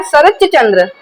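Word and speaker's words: शरच्चंद्र: सरच चंद्र। च का फीलिंग आना है। यहां पर च का उच्चारण होना चाहिए। त का उच्चारण नहीं होना चाहिए। क्योंकि हम बोलते हैं सरचंद।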